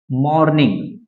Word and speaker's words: morning: अब यहाँ पे ध्यान देंगे आप, ये R है और R के पहले O है, और मैंने आपको ऑलरेडी बताया कि R के पहले अगर कोई भी हमारा वाउल हो जाता है तो R साइलेंट हो जाता है।